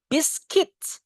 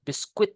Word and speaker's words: biscuit: Whole packet of biscuit. Biscuits. Bacanya, Guys. Biscuit, not biskuit ya.